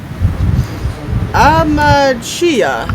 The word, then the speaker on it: Amachiya: Amachiya, is that correct? Pretty close. I like to pronounce it amachiya, but amachiya.